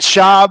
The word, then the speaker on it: Shough: The rookie, how do you say his last name? Shough. I was saying Shough. Like, remember Matt Shough back in the day? That's how I was thinking of it.